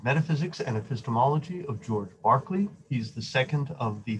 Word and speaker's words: Berkeley: just like the school in California, but it's pronounced Berkeley. It must be an Irish thing. So notice he lives about a generation or so after Locke. Berkeley agrees with much of what Locke had to say.